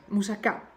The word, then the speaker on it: moussaka: for which is and that's the right way to pronounce it by the way moussaka moussaka yes okay so